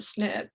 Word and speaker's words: SNP: this mystery of the snip is that although the term is pronounced snip as an snip it's